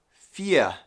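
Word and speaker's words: vier: long i sound again the number four is said fia fia okay so notice that it's spelled i e r okay so the i e makes the sound of a long e in english such as in the word me also the v that makes an f sound in english and for future words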